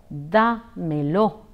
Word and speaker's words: dámelo: in the expression D'Mello the accent falls on a DA hence it is pronounced as de Melo de Melo comprar Milla